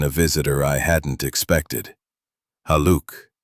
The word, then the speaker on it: Haluk: Haluk, pronounced Haluk.